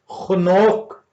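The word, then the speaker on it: חנוך: पे उर्दू में तर्जुमा हनोक लफ्ज किया गया है या हनूक लफ्ज किया गया है। ये इब्रानी जुबान का लफ्ज है और ये खनोक जो उनसे ये प्रोनाउंसिएट होता है।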